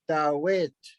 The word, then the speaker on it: Dawit: That's the only emphasis is put on the last syllable and the names. Like David is Dawit, Dawit.